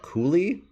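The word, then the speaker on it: Cúailnge: So Tainbow, is that Cooley? It's spelled Cualnge, but we'll go with Cooley, sure.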